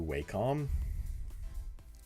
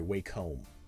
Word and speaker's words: Wacom: Thank you, Wacom. Or sorry, Wacom. That's the correct pronunciation, Wacom.